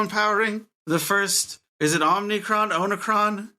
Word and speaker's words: Omicron: So I googled how to pronounce Omicron, and that is how it's pronounced, Omicron.